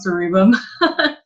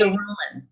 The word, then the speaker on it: cerumen: and long cerebum. Yeah. Or is that how you say it? What is it? What So did you say? the earwax. How do you say Cerumen. cerumen? C-R, yeah. Cerumen. Cerumen. Yeah.